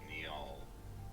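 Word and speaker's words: Njal: What I found is a pronunciation from Norway is Niall. Alright. Niall. Okay. I think that would be authoritative, no doubt. Yep. So yeah, you can totally call him Neil.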